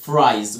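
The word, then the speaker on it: fries: هنا عندي الاي اي بتعمل لونج اي، فرا اي، جبتها منين يا مستر؟ بص كده معايا، كلمه زي كلمه تاي، كلمه زي كلمه باي، الاي اي بنطقها ايه؟ اي، دي حاله مهمه جدا من لونج اي، وخدناها قبل كده في كورس الفونكس. فرا ايز، فرايز، والاس بنطقها زي، فرايز، فرايز.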